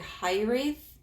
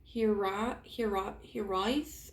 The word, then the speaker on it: hiraeth: It's like Hiraeth, I think. Hiraeth. I don't know. It's like a Welsh word.